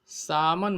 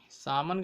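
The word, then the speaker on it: salmon: एक आश्चर्यजनक बात है, सामन मछली, सामन कह सकते हैं, इसकी स्पेलिंग तो सालमन होती है, लेकिन हिंदी में इसको सामन लिखते हैं।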